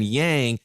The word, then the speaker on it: yang: I always go yin as the good because it rhymes with win, and then yang is the bad because it rhymes with wang, right?